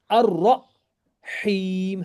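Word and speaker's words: الرحيم: And here it is ar-rahim. Ha is separate, ra is separate. You don't have to combine ra with the ha. Ar-rahim. And ya, it's a ya madda, so it goes longer. Ar-rahim.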